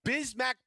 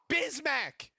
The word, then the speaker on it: Bismack: INSTEAD WE TAKE BISMACK. BRO'S NAME RHYMES WITH BIG MAC.